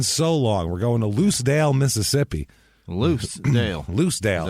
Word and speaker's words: Lucedale: God it's been so long we're going to loose Dale Mississippi loose Dale loose Dale l u CE E Dale oh okay loose Dale Mississippi it's about how they spell loose also